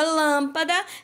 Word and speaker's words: lâmpada: temos por exemplo lâmpada então quando eu falo a palavra lâmpada eu pronuncio a sílaba Lan com mais tonicidade com mais força não vale repetir o